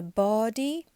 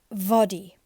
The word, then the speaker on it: body: liza joining lies a body be careful it's not vody no body lies a body just oozing just doozing